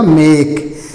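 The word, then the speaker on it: make: पहला वर्ड है यम, ए के ई। तो यम से म होता है, ए से ए की मात्रा हो जाएगी, के से क हो जाएगा और ई को साइलेंट कर दिया जाएगा।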